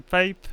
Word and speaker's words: Pape: uh here is Sven Pape is it am I pronouncing it properly your last name it's a pape Pape okay svan Pape and